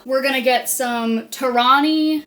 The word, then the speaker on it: Torani: So, we're going to get some Torani Torani caramel. I would say it like it was a Japanese word.